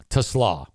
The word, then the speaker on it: Tuslaw: Anyway, Tuslaw is how you say that.